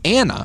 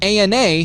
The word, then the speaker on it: ANA: stands for anti-nuclear antibodies it's an acronym that Ethan pronounces Anna instead of Ana like most every Medical Professional does this also adds to